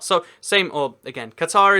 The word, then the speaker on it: Qatar: the capital city of Qatar so same or again Qatar is the generally said pronunciation but apparently the actual one is Qatar again say it how